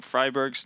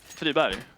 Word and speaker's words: Friberg: You can't, because yeah, everybody knows that we're saying Freiburg's name incorrectly, but try saying it with a Swedish pronunciation and see how nicely that flows off.